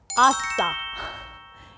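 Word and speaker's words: 아싸: If you are an outsider, person who doesn't know a lot, is not into the current trends, is called outsider, and in Korean pronunciation, shortened, it will be asa.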